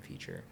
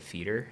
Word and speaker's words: FEATR: I also didn't realize that people would call it feeder.